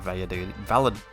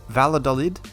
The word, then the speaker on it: Valladolid: It's Valladolid. I'm just going to say Valladolid because I don't want to try and pronounce it with a Spanish accent or saying Vallad because it doesn't work in my head, okay? So it's Valladolid.